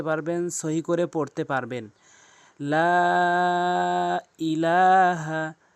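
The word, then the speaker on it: لَا إِلَٰهَ: লা ইলাহা লা ইলাহা এখানে লাকে অবশ্যই তিন আলিফ করে টেনে পড়বেন। উপরে এরকম মোটা চিহ্ন এবং বামে যদি এরকম লম্বা হামজা আসে সেই ক্ষেত্রে তিন আলিফ টেনে পড়তে হয়।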